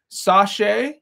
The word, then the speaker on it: Sake: Okay. Sasha. Cool. Like Versace.